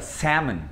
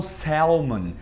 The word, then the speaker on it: salmon: Eles não falam salmon. Não tem salmon, salmon, não. É salmon. Não tem som de L, porque senão ficaria salmon. Salmon. Ficaria muito bizarro também. Então eles tiram esse L.